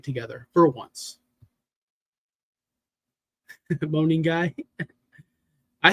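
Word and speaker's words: Monangai: Moaning guy, I said it right, Jamie.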